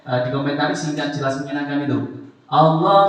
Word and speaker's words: Allah: Allah setelah kasroh tipis bacanya walillahi. Allah setelah fathah dhammah tebal bacanya alallahi kitabullahi.